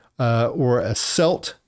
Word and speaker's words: Celt: C E L T is a selt. Um and then there's a Kelt, right? A Kelt is a member of an ancient culture. A selt is a stone knife without a handle.